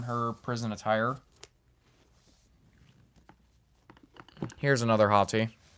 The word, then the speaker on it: Hati: So, her name is spelled A or no her name is H A T I Hottie.